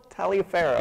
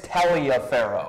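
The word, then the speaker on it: Taliaferro: in the pregame Lorenzo taroh yeah I thought it was Taro but apparently it's tell a pharaoh yeah that guy can't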